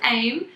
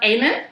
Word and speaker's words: Aim'n: No, it's pronounced Aimin. Aimin. But actually it's English incorrect because English is not our first language, so we started off to put an N because aiming comes from the word aim, and then aiming is